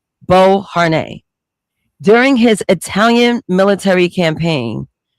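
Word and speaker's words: Beauharnais: Before he conquered much of Europe, Napoleon Bonapart was completely infatuated with Josephine de Bern, that's how you pronounce the last name, Bo Har during his Italian military campaign.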